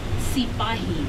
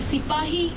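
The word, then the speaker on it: सिपाही: by the British because they could not pronounce Sipahi as we do in Hindi.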